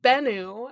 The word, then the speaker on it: Bennu: The Bennu, as Anubis calls it, I think that's how you pronounce it, is apparently like a god, linked with the sun, creation, and rebirth.